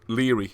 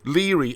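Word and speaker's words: Lóegaire: i r e so it looks like low gear i'm pretty sure from my ferry crossings on various rugby tours that it's spelt uh pronounced leery a bit like dundee or either harbor that's what i'm assuming so i'm going with leery okay right so one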